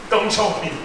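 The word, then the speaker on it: 邓小平: 덩차오핑.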